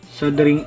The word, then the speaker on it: soldering: muna natin ang ating sing iron sabi ni Google silent L sing iron at p mainit na